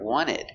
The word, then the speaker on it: wanted: today so you hear wanted wanted we don't pronounce the t the t is silent and wanted because you have nt between two vowels when you see nt